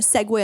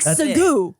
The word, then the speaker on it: segue: - Anyway, so it's spelled fuckin' S, E, G, U, E, so it looks like segoo, segoo.